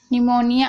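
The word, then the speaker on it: pneumonia: अब देखिए यूमोनिया, निमोनिया, आप देख रहे हैं यहाँ पर पी साइलेंट है।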